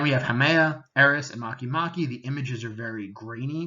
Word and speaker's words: Makemake: out and this one it looks like Makemake but you pronounce it Makemake and then we have